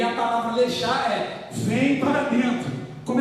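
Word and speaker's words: לך: Deus estava dizendo uma palavra que significa lechar. A pronúncia é lehá.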